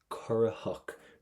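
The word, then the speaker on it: corraitheach: See this word, next word, currahach. Do not pronounce the letter T because there's a shevu after it.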